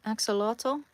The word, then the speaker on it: axolotl: Axolotl. Axolotl.